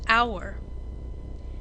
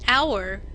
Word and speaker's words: hour: hat but what about hour in hour the H is silent you don't hear it the first sound of